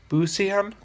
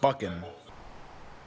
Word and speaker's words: Buchanan: wrong one it's pronounced boo CM and here is the correct way to say my last name buckin so that is buckin